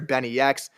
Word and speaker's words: BNYX: complex just announced that Philly producer Benny X who I definitely pronounced as Binks for about six months one producer of the